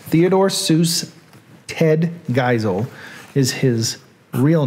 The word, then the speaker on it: Geisel: Seuss here on Reading Things with a Southern Accent, Theodore Seuss Ted Geisel is his real name.